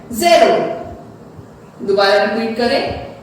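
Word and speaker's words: zéro: अब हमें उन्हें प्रोनाउंस क्या करना है, ज़ेरो। दोबारा रिपीट करें, ज़ेरो।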